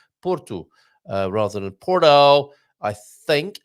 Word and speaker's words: Porto: Yes, the solution is to at least make an effort to pronounce it correctly. Porto.